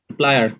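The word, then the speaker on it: pliers: স্যার ওটার আসল উচ্চারণ হচ্ছে এটাই, কিন্তু মানে ওই প্লায়ার্স, কিন্তু বাঙালিরা উচ্চারণ করে করে পিলার্স বানাই দিচ্ছে। পিলাস।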